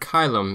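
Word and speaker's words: caelum: The Romans would have pronounced chilies as kylis. The word kylum is the word for sky or heaven.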